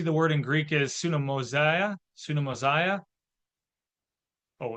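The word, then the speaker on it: συνωμοσία: Oh, it should be mosia, because the I at the end is like the I in intrigue. So that's the pronunciation. It would be sunomosia, is the pronunciation of Koine Greek, if you care.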